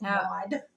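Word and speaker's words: Maude: mod mod yeah keer the E is silent it's mod there you're correct I've been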